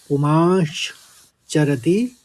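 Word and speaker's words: पुमांश्चरति: पुमानश, पुमानश, पुमांस एक साथ निकालेंगे, आगे मात्रा है कि पुमांस, पहले शौ का उच्चारण करेंगे फिर चरति कहेंगे। पुमाश, पुमांश, पुमांश चरति।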